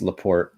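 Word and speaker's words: La Porte: City here Port Michigan is it lorte leaport it's leaport Lort e is silent um yeah the hazards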